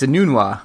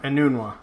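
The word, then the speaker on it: Enunwa: pronounce his last name. Yeah, it's Anunwa. Anunwa.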